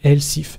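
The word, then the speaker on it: elif: chose de nouveau et ça s'appelle le lcif mais ça s'écrit l ihf ça veut dire sinon si et on va dire si j'ai 17 ans vous êtes presque majeur sinon l ihf sinon si j'ai 18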